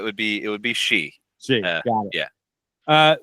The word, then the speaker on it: Shi: succinctly yeah it would be it would be she she got it yeah uh so where are